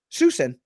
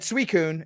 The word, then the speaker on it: Suicune: susan except susan like s-u-i is pronounced sue and then the c-i-n-e is sin susan but everybody said suicune and we're like i